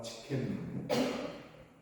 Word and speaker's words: 칫케누: 오늘은 우리와 함께 여호와 치켄누, 자꾸 치켄누를 치킨으로 생각하시면 안 됩니다. 발음이 되게 어렵기 때문에 치켄누입니다.